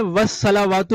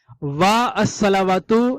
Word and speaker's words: والصلوات: ساقط ہو جاتا ہے۔ یہ الصلوات تھا، واو لگنے سے والصلوات پڑھا جائے گا، وا الصلوات نہیں پڑھیں گے، کیونکہ جب معرف باللام